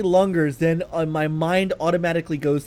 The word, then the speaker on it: Lungers: Sorry, is it Lungers or Lungers? It's spelled Lungers, and all I can think of is Lunger. I would say Lunger. And then I like to tell people it's both.